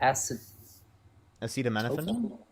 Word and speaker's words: acetaminophen: Acetaminophen.